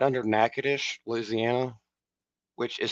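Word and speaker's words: Natchitoches: how many slaves but uh it's right under nacadish Louisiana which is spelled nachoes but it's pronounced nackadish and uh it's called it's been renamed to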